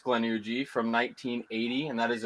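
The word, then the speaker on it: Glenugie: how to pronounce it glenuji or glenugi i think it's glenuji from 1980 and that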